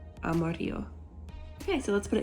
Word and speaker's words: amarillo: fun one to say it's Amarillo so the two L's next to each other actually make a y sound Amarillo Amarillo okay so let's put